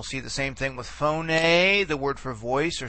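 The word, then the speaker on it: φωνή: You remember phoné is accent in the last syllable. Okay, and therefore phoné, that accentuation pattern is basically preserved throughout the forms.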